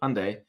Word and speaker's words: Hyundai: it escape the Hyundai so I say it like Sunday Hyundai Tucson so looking at